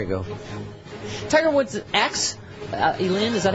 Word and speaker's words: Elin: Tiger Woods' ex Elin, is that how you say it? Yeah. Elin.